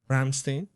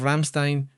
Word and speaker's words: Ramstein: Ramstein. This is Ramstein, right? Like the band, right? Yes, that's it. Here's the base, one of the most important. Well, the little town of Ramstein, this little town lives